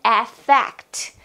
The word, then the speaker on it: affect: And when you have a feeling, this is an effect. An effect. BTW. Effect with A is pronounced with the schwa sound at the beginning of the word.